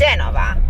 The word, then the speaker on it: Genova: Well, it's Genova, but I don't know how you say it in English. Which one is in Italian? Genova. Genova. So English would be Genoa.